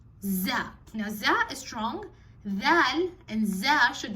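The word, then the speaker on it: دال: And then you have dal, dal. Dal can, sometimes people make it too strong. They say zal. It's not zal, it's dal.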